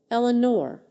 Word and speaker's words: Eleanor: I remember the way he said my name, Eleanor, with a soft emphasis on the first syllable that made it sound like music.